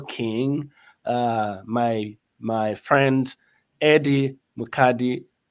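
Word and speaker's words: Eddie Mukadi: married to your king uh my my friend Eddie madii right did I pronounce that correctly yes you did yes yes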